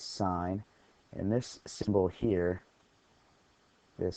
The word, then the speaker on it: sine: And sine is abbreviated sin. Some people say sin, but we pronounce this sine.